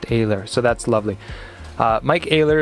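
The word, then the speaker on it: Oehler: This one is for Mike Ayler, and it's very nice of them to provide pronunciation on this card because right under it says pronounced Ayler, so that's lovely.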